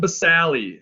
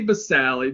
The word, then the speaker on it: basale: all right the stratum basale i say basale because this yes the e is silent but i say it so you know how to spell it stratum basale don't forget the e